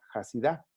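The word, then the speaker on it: חסידה: En hebreo, la cigüeña se le llama compasiva, que en hebreo se pronuncia hasidá, como los hasídicos, la denominación judaíta de los judíos, los hasídicos viene precisamente de eso, de compasivos.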